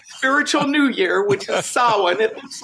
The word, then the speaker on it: Samhain: For the Wiccan Spiritual New Year, which is Samhain. It looks like it might be pronounced Samhain, but it's actually Samhain or Samhain.